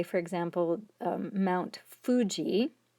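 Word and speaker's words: 富士: say for example mount fuji in japanese that is actually pronounced huji like a w h u sound so even though it's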